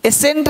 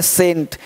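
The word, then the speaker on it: scent: अब देखिए यहाँ पे एस सी ई एन टी, एसेंट नहीं बोलते है ना, एसेंट, एस चुप हो गया, बोलेंगे सेंट है ना, सीन, तो अब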